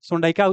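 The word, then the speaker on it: sondaica: सोडाइका सही उच्चारण क्या? सोडाइका। क्या हो गया? सोडाइका हो गया।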